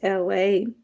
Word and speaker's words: Elay: My name is LA. Pronounced like LA, like the city.